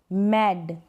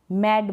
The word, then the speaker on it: mad: Lead, मैड, मैड बोलेंगे, ना कि हम मेड बोलेंगे, मेड की स्पेलिंग अलग होती है।